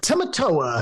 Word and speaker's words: Tamatoa: Uh Tamatoa.